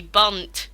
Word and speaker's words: Bundt: And this is actually the bunt dragon spelled like that. I know it's misleading, but that's how it said.